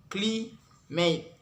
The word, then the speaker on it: climate: Example like climate. We can make it stress in the first word cli, and we can say it unstressed is in last word mate.